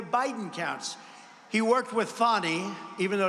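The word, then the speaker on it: Fani: not legit they're Biden counts he worked with fonnie even though it's spelled Fanny f a n i fny how about that one how about that one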